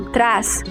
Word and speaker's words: trás: como fricativa alveolar desvozeada, enquanto trás, grafada com a letra Z, que representa a fricativa alveolar vozeada no início de sílaba, mas nessa palavra a pronúncia deixa de ser vozeada e passa a ser desvozeada.